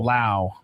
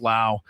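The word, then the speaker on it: Lowe: Lao. Brandon Laauo. Spel. Is it low? Yes, it's spelled low, but it's pronounced Lao.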